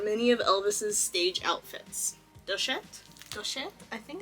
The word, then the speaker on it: Doucette: how to say more this is a French name originally in France it is said as duet duet duet I was